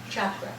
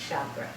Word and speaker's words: chakra: ago but um she she said it's a Sanskrit word and the correct pronunciation is chakra chakra so you know but